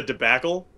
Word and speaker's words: debacle: It's like maybe slightly politically oriented, and it rhymes with like the box you carry when you go fishing. You seem to know it. I think you're just quizzing him. That's a debacle.